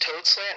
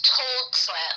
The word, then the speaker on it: Told Slant: Is it pronounced toad slant? Is that how you say it? I don't think I knew how to say it before. It's told slant, like TOLD.